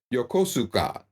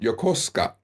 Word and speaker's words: Yokosuka: a a city not too far from me Yokosuka but it's pronounced Yokosuka so you have to learn these things um